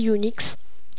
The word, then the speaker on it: Unx: Ok, bonjour à tous, c'est Unix. Comme ça, vous savez comment se prononce mon pseudo.